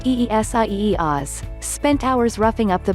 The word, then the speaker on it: Isaias: news conference after the storm pronounced eesie oz spent hours roughing up